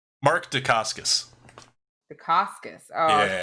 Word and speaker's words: Dacascos: Macasios? Mark Dacascos. Dacascos. Oh, I was Yeah.